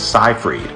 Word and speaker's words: Seyfried: common for actresses like Amanda Seyfried whose real pronunciation is scifreed Margot Robbie said the only thing that bothered